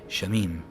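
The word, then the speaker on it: שמים: And so you put a default a in between the shin and the m and the mem, but you don't put a default a between the. So you would say shamim instead of shamayim, but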